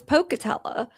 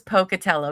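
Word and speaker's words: Pocatello: was a junior at Pocketella High School in Pocutella, Iowa. How did you just say that? I said Pocutello. Is that not right? Pocutella. It's Pocutella.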